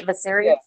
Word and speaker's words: Viserys: On how they feel about Viserys, or that's how you pronounce his name, right? Viserys.